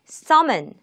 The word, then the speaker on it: summon: summon, summon, summon. 첫 음절에 강세를 두고 읽어주시고요.